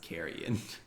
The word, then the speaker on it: carrion: on carry on but i believe it's pronounced carrion okay by parkway drive uh